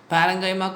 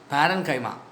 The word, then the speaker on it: parenchyma: Parenchyma, collenchyma, sclerenchyma. Paren, colon, scleren. Pronounce that. Paren, colon, scleren. Parenchyma, collenchyma, sclerenchyma.